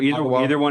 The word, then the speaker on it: Ottawa: Ottawa, that's previously we pronounced, is Ottawa, is Yes. that no longer properly used? So Ottawa? either one is fine.